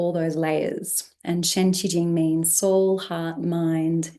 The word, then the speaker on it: Xi: I'm going to share the mantra and so you'll see the first word of each line is she and she is the sound the da vibrational sound for vibrating and resonating our fifth soul house the throat area.